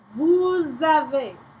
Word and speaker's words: vous avez: Vous avez. Vous avez. Same, you get to say the S here because of this.